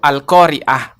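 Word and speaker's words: القارئة: Kalau al-qoriah pakai hamzah tidak ada ainnya, yaitu artinya pembaca Al-Qur'an.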